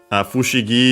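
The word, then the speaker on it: 不思議: Fushigi is an accented on its own despite the accent of fukashi.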